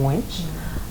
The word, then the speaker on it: Angwech: name is ange my father is very tough on the pronunciation he once had me pronounce it in front of a camera and the cameraman had him whispering behind how my pronunciation needs a little bit more accent in it as i pronounce it so my name is